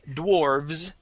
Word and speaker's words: dwarves: end here so uh it would be dwarf with an f and then dwarves with a V and a voiced s dwarf D okay let's